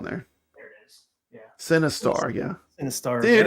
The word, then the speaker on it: Sinistar: Sinistar. Yeah, it's spelled Sinistar. Yeah, like Sin, like movie.